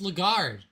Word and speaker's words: Lagarde: It's just Lagarde.